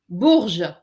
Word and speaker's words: Bourges: Bourges.